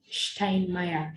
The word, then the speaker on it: Steinmeier: Can people pronounce Steinmeier? Mr. Steinmeier, yeah?